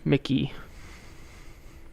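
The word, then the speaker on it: Mikie: If it was male, it'd be pronounced Mikey, and if it's female, it's pronounced Mickey. She's Mickey Surreal. So, yeah, Mickey Mouse. Musson, and that question goes to Mikey Sherrill.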